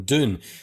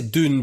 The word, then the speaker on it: Dune: it differently twice right once you've pronounced it more of this sort of Scottish way of doing it and saying June rather than Dune so what one would